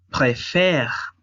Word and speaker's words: préfère: Por ejemplo, en infinitivo es préféré, pero conjugado es je préfère. O sea, la sílaba tónica es faire.